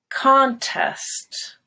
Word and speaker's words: contest: record their pronunciation homework contests go high on khan contest she entered a hard contest contest they contested the results so there are the stresses on test contest rebel as a noun